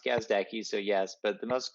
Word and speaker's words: Gazdecki: you passed yes uh the most common it's pronounced gazdaki so yes but the most common one is gazdiki gazdaki but yes kazdaki all my friends call